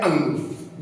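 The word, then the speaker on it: ङ: प्रकार से होता है अंग जनरली इसको अण खाली ऐसा कुछ बोलते हैं लेकिन वो आपका अशुद्ध उच्चारण है आप आशुलिपि के दृष्टिकोण से इसको अंग बोलेंगे ये गहरा होगा और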